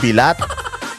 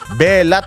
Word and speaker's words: belat: din alam mo na they will not pronounce it as bilat belat ang pronouncement nila doon pronunciation pronouncement tuloy ang pronunciation nila doon belat hindi bilat dahil alam nila bastos